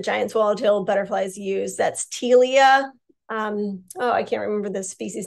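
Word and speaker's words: Ptelea: So the P is silent. So Telea. It's Telea.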